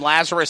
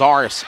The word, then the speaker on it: Lazarus: By the way, I was calling him Lazarus Sims because that's all I remember the name from the Bible, Lazarus, but it's Lazarus Sims.